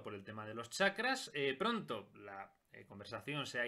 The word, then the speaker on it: chakra: se haya llamado la atención que diga chakra y no sacra que es como normalmente se pronuncia pero resulta que es una pronunciación incorrecta